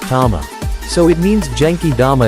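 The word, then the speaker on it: 玉: Jewel like object in these cases it's usually pronounced Tama so it means jeny dama is a ball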